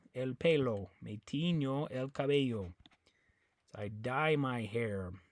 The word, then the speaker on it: cabello: But over here on the word cabello, you have two L's. And the way you pronounce it is cabello. Okay? So the biggest thing I want you to know is this double L, because you don't say cabello, cabello.